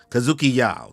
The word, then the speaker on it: Kazuki Yao: Kazuki Yao. There we go. I almost said it wrong. Kazuki Yao had to retire.